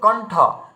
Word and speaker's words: কণ্ঠ: আচ্ছা তারপরে দেখুন কণ্ঠ, এই কণ্ঠতে দেখুন মূর্ধন্য জুড়ে গেছে, মানে ওই বিন্দু চিহ্ন আমাদেরকে মূর্ধন্য সংকেত করছিল, কণ্ঠ।